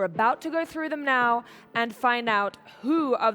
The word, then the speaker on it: Nau: is daryl now and that's spelt n-a-u but it's pronounced now because he's right here right now daryl welcome to the